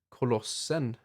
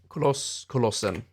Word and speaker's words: Kolossen: How do you say that in Swedish? Kolossen. I guess it's Kolossen. We usually add en at the end of words when it's that one, you know, the.